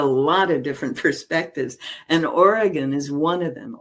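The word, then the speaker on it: Origen: And Oregon is one of them. Origin, if you want to pronounce it that way, was one of those folks.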